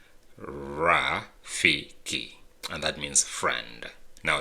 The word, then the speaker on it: Rafiki: uh like the monkey in Lion King is pronounced raiki and that means friend now let's go ahead